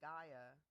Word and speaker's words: Gaia: Another tool you use is that Gaia.